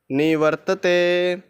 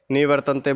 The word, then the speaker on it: निवर्तते: तो दोस्तों यहाँ पर मेरे से मिस्टेक हुई थी, निवर्तन्ते बोल दिया था मैंने, तो सॉरी गाइज़। इस तरह से आपने भी सही उच्चारण करना है, मिस्टेक नहीं करनी है।